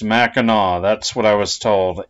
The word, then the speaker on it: Mackinac: Island Michigan and yes I believe it is pronounced maau that's what I was told even though it's spelled like mac andac since you were not allowed to drive to